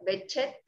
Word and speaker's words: Behçet: que digan porque se debe decir enfermedad de behçet a por qué el enlace y es en una palabra turca entonces él pronuncia la pronunciación correcta es como bechet por esa sevilla y no es exactamente la